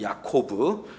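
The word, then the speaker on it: יעקב: 여러분, 야곱은 히브리어로 야코브입니다. 야코브.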